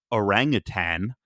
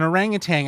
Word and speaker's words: orangutan: only as of this interview realizing that it's pronounced orangutan notang yeah even though tang the you know very popular drink would use an orangutang I believe in its promotional material to